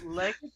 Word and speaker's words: Legate: I don't know how to pronounce that. It's Legate.